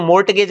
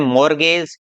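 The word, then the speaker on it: mortgage: इसको मोर्टगेज नहीं बोलते हैं, इसको बोलते हैं मॉर्गेज।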